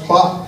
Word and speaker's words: glad: now glad and everything in Dutch glad is pronounced clock and it means slippery yeah you're walking along